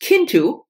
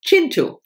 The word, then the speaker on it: Kintu: this author, which I, for years and years, pronounced Kintu, And Kay, thank you very much, Kay, finally, in my last video when I hold this book, told me that it's actually Chintu.